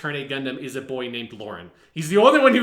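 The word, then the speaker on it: Laurem: of turn a gundam is a boy named lauren he's the only one who would ever do that and it's spelled l-o-r-a-n but supposed to be pronounced lauren it comes sometimes goes undercover as a female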